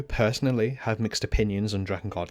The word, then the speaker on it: Drakengard: The correct pronunciation is Dragon Guard, not Draken Guard.